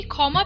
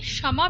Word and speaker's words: ক্ষমা: আমি শিরদর্ণ বসম্মভূত বললাম খিয়র উচ্চারণ বাংলার খ এর মত হলেও খিয়র উচ্চারণ সংস্কৃততে স এর মত উচ্চারণ হয় যেমন আমরা কখনোই ক্ষমা প্রার্থনা মন্ত্র বলি না সংস্কৃততে আমরা এটিকে বলি ক্ষমা প্রার্থনা মন্ত্র সংস্কৃতে খিয়